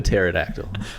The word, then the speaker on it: pterodactyl: all right Gus J why can't you hear a pterodactyl going to the bathroom why cuz the pee is silent oh my God that's pronounced pterodactyl what make sure to